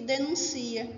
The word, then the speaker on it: denuncia: Denúncia, substantivo, e denuncia, que é verbo. percebam mesmo a forma, denúncia e denuncia, o som aí é diferente.